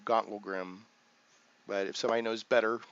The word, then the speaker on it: Gauntlgrym: Gauntlgrym, different ways, but it's kind of like the beginning of Gauntlet, and then it's Grym, Grym. So I'm saying Gauntlet, Grym, Gauntlgrym.